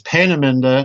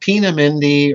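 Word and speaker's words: Peenemünde: all right right and please note the pronunciation everybody it's Pena not pami or you know I hear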